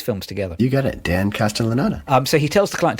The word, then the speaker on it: Castellaneta: It is Dan Castellaneta. It was I've got to learn how to pronounce his name because he's been in every episode of The Simpsons.